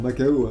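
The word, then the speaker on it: Macau: Alors Macao, ça se prononce comme ça? Mako. Mako, ah oui, Mako.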